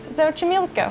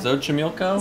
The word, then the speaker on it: Xochimilco: We're not even gonna try to pronounce it. No, it's Xochimilco. We're gonna put the name like... Xochimilco. Xochimilco?